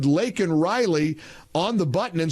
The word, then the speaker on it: Laken: She sat there smirking at him and handed him a button that said Laken Riley on the button and said, "Say her name, Mr.